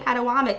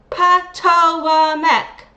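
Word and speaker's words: Patawomeck: She doesn't think she needs to even know how to say the tribe's name correctly because she keeps saying Padawam, but it's POAC. Poameck. Poamech.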